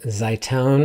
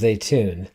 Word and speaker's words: Zeitoun: I was pronouncing that Zaitoun or Zaitou I don't know how I was pronouncing it last week, but the correct pronunciation is Zeitoun.